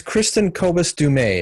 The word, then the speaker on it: Kristin Kobes Du Mez: It's Kristin Kobes Du Mez is the way you say her name properly.